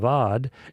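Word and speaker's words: עבד: The Hebrew word is avad uh e b d if you anglicize it in the spelling but pronounced aad and that word is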